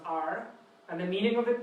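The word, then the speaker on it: 尔: And it's the arm, as you said, so that's why it's pronounced R.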